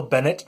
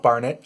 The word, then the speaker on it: Bennett: of late of course Phil Bennett not Barnett I know a Kris Barnett that's why I mispronounced his name and I will say